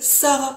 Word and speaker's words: saga: service à la nation la chanson saga qui se prononce Sarah en Lumbu et le titre de